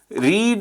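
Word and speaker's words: read: न्यूज़ेपर was then रीड रेड रेड होता है। तो स्पेलिंग सेम रहनी है। लेकिन प्रोनाउंसिएशन हमने या उसको रेड प्रोनाउंस करना है हमने।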